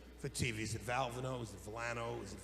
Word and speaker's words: Valvano: The Oval Office, the President of the United States, says, how do you pronounce that? I said, Valvano.